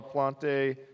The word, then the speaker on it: Plante: My name is Plant. It's French. The E is silent.